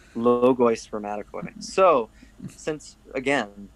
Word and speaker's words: Logoi Spermatikoi: And so, and I always pronounce this wrong, but is it Logoi? How do you say it? Logoi Spermatikoi. Logoi Spermatikoi.